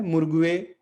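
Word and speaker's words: morgue: तो यू जो है, यू और ई, पीछे हमने देखा तो दोनों मिलकर एक डिप्थोंग बनाते हैं, एक संयुक्त स्वर बनाते हैं, और उसका उच्चारण क्या हो जाएगा, अ।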